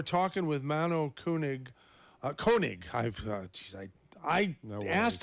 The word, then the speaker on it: Koenig: with mano kunig uh koenig i've uh i i asked him ahead of a time about the proper pronunciation and he told me it's cone c-o-n-e egg and uh here i